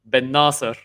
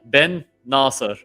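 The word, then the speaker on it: Bennacer: incredible match man assar we have an Algerian house so let's pronounce it the right way benassar ah it's not been necessary uh it's not uh it's not uh one word it's like Ben Nasser so it's uh in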